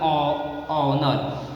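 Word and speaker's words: honour: तो हमें एच को क्या कर देना है, साइलेंट कर देना चाहिए। जैसे एग्जाम्पल में ऑनर, यहाँ पे एच के बाद वो जो दिया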